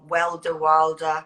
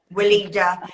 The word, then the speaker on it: Weleda: and that German make, I'm going to say it wrong, Wilder. Well, yeah, well, Weleda. Weleda.